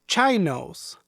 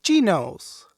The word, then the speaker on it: chinos: les pregunto, ¿What are chinos? Se empezaron a reír a carcajadas y me corrigieron que se pronuncia chinos.